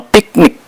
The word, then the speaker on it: PICTNIQ: Awal April ini tahun 2025 wisata baru ini bernama piknik dan ditulisannya si piknik cl gitu ya tapi bacanya bukan piknik p i c n i q gitu tulisannya ejanya piknik gitu piknik langsung menyedut